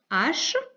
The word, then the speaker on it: hache: Donc, on a une hache avec un H muet encore une fois et un autre qui ne le sera pas.